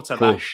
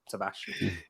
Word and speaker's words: Tavares: Nuno Tavares. That's how you meant to pronounce it in Portuguese. Tavares.